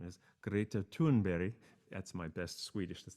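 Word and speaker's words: Greta Thunberg: young 15 year old girl in 2018 named greta tunberg now that's how we would pronounce it she's from sweden and the correct pronunciation of her name is greta tunberry that's my best swedish that's the best i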